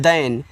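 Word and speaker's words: than: आप कह सकते हो कि दे वर हैप्पी वे खुश थे टी एच ए एन तो इसको पढ़ते हैं दन तो टी एच से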